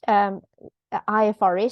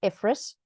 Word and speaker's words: IFRS: well, for many years I called IFRS IFRS. Apparently that's like emphasizing the wrong syllable, right? It's IFRS, not IFRS. Many people still say IFRS, but anyway.